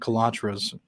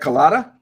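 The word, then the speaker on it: Calabrese: as well you know what was uh Frank calatra's you know you know do you know what his involvement was with the family secrets Frank colada yeah yeah that's how you say my bad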